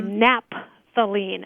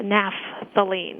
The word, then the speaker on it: naphthalene: you pronounce that because sometimes people just abbreviate the pH as a p so they would say napthalene as opposed to naphthalene mhm yeah I could